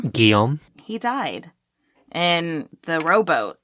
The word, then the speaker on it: Guillaume: Sadly, her son, Gilly, or how do you say this name? Guillaume.